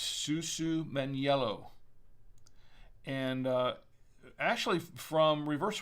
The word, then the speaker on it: Susumaniello: pugets in italy and um and it is pronounced susu meniello and uh actually from reverse wine knob they